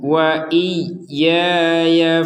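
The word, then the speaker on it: وإياي: Ufi biahdikum wa iyaya farhabun. Di sini ada tasydid. Yang namanya tasydid berarti harus ditekan. Jadi tidak sekedar wa iya ya. Wa iya. Wa iya. Kurang ada tekanan itu harus ada tekanan.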